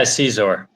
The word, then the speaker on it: Ceazor: How do you pronounce it? Yeah, Ceazor. Yeah, Ceazor. That's it. Okay, okay, like a Caesar and a czar, or No. Just Ceazor. That's it. You just Ceazor.